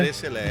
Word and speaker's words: Grecelé: Estamos começando mais um episódio aqui do Agro Resenha e nesta semana estou aqui com o Gresselé. Falei certo, né? Gresselé, essa é a pronúncia.